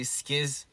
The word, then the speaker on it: SKZ: Sometimes I say skiz, because, you know, in Korean we say skiz, like a lot.